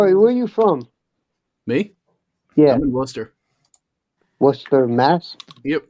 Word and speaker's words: Worcester: you from me yeah Wooster Worcester Mass yep right right in the middle of the state okay no it's pronounced was stuff Worcester where's that I'm going